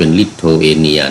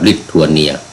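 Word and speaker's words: Lithuania: ทาง ไป ประเทศ ลิโทเอเนีย ที นี้ ก็ ออก เสียง เป็น ลิโทเอเนีย นะ อื บ้าน เรา ก็ ลิทัวเนีย ลิทัวเนีย ก็ อยู่ ไป ทาง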